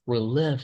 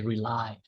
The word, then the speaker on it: relive: And this one is relive. We don't say rely. Relive. Okay.